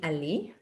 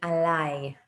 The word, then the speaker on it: עליי: So I'm getting alai, and the pronunciation not be ali, like li, bi, will be alai, I group.